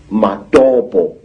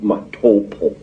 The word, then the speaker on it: Matopo: And one of these parts of Africa, sir, is a remarkable place called the Mountains of the Round Rocks, Matopo, wrongly pronounced Matopo, in Zimbabwe.